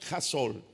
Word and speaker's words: hustle: La primera de dos causas que Salomón señala, yo le he titulado la cultura del jasol, la cultura del hustle, escrito al español, pero se pronuncia jasol, culturasol.